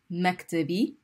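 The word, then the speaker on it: مكتبي: The shadda is important in pronunciation. Maktabi.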